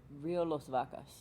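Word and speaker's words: Río Las Vacas: plastic collected by the ocean cleanup from the Rio Los Vacas. Did I pronounce that right? In Guatemala. Rio Los Vacas.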